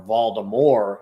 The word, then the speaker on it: Voldemort: potter would have defeated voldemort or voldemort is actually the way it's supposed to be pronounced um if it wasn't